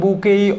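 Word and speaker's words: bouquet: তাহলে এখানে দেখেন বুকেই অফ ফ্লাওয়ার্স, ফুলের তোড়া, এইখানে টি এর উচ্চারণ কিন্তু হবে না। যখন প্রোনাউন্সিয়েশন করতে যাবেন এই টিটা বাদ, এর উচ্চারণ হবে বুকেই অফ ফ্লাওয়ার্স।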